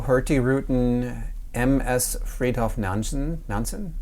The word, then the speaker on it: Nansen: rutin MS Fred nanson nanson is how they pronounce it uh which started off